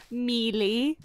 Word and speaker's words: Mealy: It's called Mealy. It's spelt like Miley, but it's Mealy.